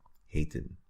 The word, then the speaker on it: heten: Now, what is also quite common is to use the verb heten, which is to be called. Heten, right? So you see one E at the beginning, but it's a long vowel sound.